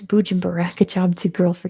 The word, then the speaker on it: Bujumbura: Anyway, it's Bujumbura. Good job to girl for getting that. It's Bujumbura. They renamed Usumbura to Bujumbura. It's correct pronunciation, not its colonial one.